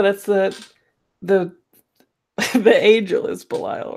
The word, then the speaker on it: Belial: It's Belial? B-E-L-I-A-L. Belial, yeah.